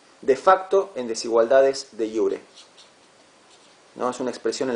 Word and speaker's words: iure: De iure. De iure. Una diferencia de iure, la J en latín se pronuncia como I, ¿sí?